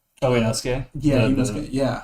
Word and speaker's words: Inosuke: Oh, they had Inusukes. Oh, Inosuke?